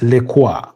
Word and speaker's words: Lecoix: been scored by Maxence Lecoix. I used to read that name as Lacroix, something like that, but it's Lecoix.